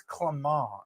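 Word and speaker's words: Clément: VSOP is how they say it, but I said VSOP. I just made him cringe so hard. He's like, it's Clement, and I was like, not in Iowa.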